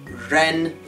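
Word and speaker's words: rén: something about the r sound in run okay you can see r in mandarin sounds like see in english we would go now we would say this word ren ren but you need to say it correctly got it okay that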